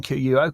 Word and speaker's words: Quo: Is that right pronunciation? QUO, Quo Index?